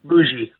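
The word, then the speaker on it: Mougey: How do you pronounce his name? Mugi. Muji.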